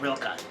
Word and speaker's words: Rilka: Spell it however you want. It's pronounced Rilka.